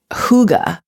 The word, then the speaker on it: Hygge: And it's pronounced Hygge.